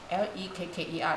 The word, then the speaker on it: lekker: 那个，L E K K E R， L E K K E R，那个没有 pronounce 那个 R 的哦。